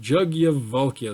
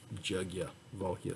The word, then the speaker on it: Yajnavalkya: Okay, so the opening selection, all right, so it is Yajnavalkya is how I've heard it pronounced. It's spelled Yajnavalkya, but I've heard it pronounced Yajnavalkya. So that's how I'm going to say it.